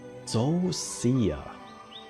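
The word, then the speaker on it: Zoh Shia: And Zosia.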